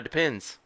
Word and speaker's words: Depend: Depends. That's what I've always thought they were called, but it turns out they're not depends. Take the S off.